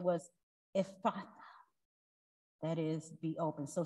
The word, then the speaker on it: Ephphatha: Ephphatha, that is, be open.